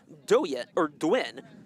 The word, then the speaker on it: Doyen: And Isaac Doyen is how that's pronounced, who just came in